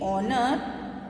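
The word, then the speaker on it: honor: कर चुके हैं कि ऑनर स्टार्ट तो हो रहा है एच साउंड से, बट एच इज a consonant. But हम लोग जब इसको प्रोनाउंस करते हैं तो एच का प्रोनाउंसिएशन नहीं आते हैं, ओ के आ जाते हैं, एंड ओ इज a vowel sound.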